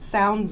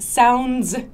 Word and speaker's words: sounds: What sounds good? Points. This S sound. Many people forget to pronounce the S sound. What sounds good? What sounds good?